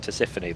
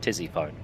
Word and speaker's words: Tisiphone: So now I look at it, I know it's pronounced Tisiphone, but I just see it spelled Tizzyphone.